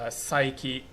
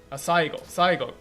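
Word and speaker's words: 最後: because the line is psyche, or however, let me psyche. I'm not sure if I'm saying that right. Jiki. How do you say this? Saigo. Yeah, saigo.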